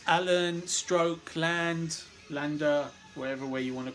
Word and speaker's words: Lande: Russell Allen, Jorn Lander, awesome stuff. Jorn Land, whatever. I never know how to pronounce it, Lander or Land. Keep the E silent.